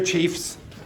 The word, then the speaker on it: chief: over here Chiefs and the French pronounce this word like what but this is pronounced like an English way so we say chief chief this word is pronounced in the French way so how did you